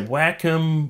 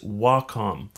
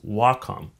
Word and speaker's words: Wacom: really excited to show you the brand new Wacom Intuos Pro small now one last thing how do you say Wacom I've heard people say Wacom Wacom the proper way of saying it is Wacom and the reason it's that is why is